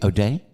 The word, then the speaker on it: Odeh: it's my pleasure you're most welcome did I pronounce that correctly OD day yes sir oh goody goody okay wow man